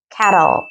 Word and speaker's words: kettle: 이때 cat 아니고 kettle 발음 연습해 주세요.